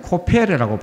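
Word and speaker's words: כֹּפֶר: 그런 물질입니다 찐득찐득한 물질이죠 그래서 역청을이 성경의 원에서는 코페르라고 발음합니다 코페르 오늘날 콜타를 하잖아요 코페르라고 합니다 근데 여러분 예수님이 우리를이 죄에서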